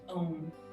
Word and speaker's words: Om: So with your eyes still closed, we're going to chant the Om sound, which I love. It rhymes with home, it rhymes with shalom.